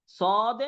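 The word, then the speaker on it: ص: normally বলছিলাম সদে সদে এখন দেখেন সদ ক্লিয়ার জি হুজুর বুঝতে পেরেছেন ওই সদ থাকবে জাস্ট কি হবে মোটা হবে নরমাল সাউন্ড হবে না একটু মোটা করে উচ্চারণ করতে হবে আর এই মোটাটা আপনাদের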